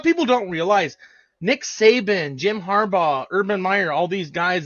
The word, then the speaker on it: Jim Harbaugh: I don't know this I said his last name wrong last week Jim harbra oh Jim Harbaugh is going to the Chargers is that confirmed